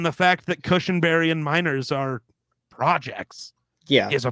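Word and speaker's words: Meinerz: out to be a pretty decent Center Quinn Miners miners yep I don't know how to I didn't know how to pronounce his last name minors he's out this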